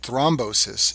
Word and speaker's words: thrombosis: of Sten is called thrombosis it rhymes with restenosis but it's a totally